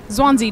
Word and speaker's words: Zwanze: one of my favorite days of the year, Zwanze Day, or Zwanze Day, whatever your preferred pronunciation of the word is.